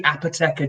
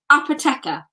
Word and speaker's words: Apoteca: Peak District, producing, and just so you can pronounce it properly, Apoteca Gin. Okay, so straight away, I've been saying it wrong, which I think I've said it wrong several times, both to members and others. Apoteca. Apoteca, yes.